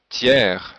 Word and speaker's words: tiers: Il y a des exceptions comme hier, hiver, fier, et le mot tiers, le S n'est pas prononcé, mais le R oui.